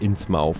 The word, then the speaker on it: Innsmouth: Oder Innsmouth, wie es hier ausgesprochen wird.